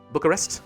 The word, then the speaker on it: Bucharest: University of Bucharest perfect timing I like that Bucharest that's finally how you say it alright we